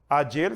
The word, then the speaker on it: ayer: Ayer, pode-se ler também ayer, ou como os leem os argentinos, ayer, que significa em português ontem.